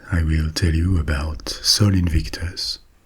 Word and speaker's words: Sol Invictus: will tell you about Soul Invictus or Soul Invictus if we want to pronounce it like the ramens did Solin victus was the